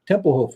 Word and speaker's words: Tempelhof: Tempelhof.